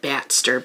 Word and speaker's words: Batster: Like Baxter, but Batster, because it's a bat, and it's Bartholomew syllables.